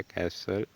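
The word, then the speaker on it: castle: Second में जहाँ लिखा है इट इज़ अ कैसल, जहाँ पे एक वर्ड आ गया है कैसल, जहाँ पे टी आपकी साइलेंट रहती है।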